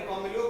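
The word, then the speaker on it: Camillo: कैमिलो Golgi actually उनका नाम का सही प्रोनाउंसिएशन है।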